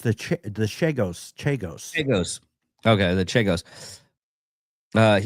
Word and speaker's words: Chagos: He will not let anyone else That mispronounced the Chagos. Chagos.